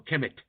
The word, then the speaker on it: Kemet: a Greek word, but the ancient term was called Kemt or Kemet. And we spell it many different ways. Its spelling is not important. But it was Kemt or Kemt, K-M-T, and it later became Kemet.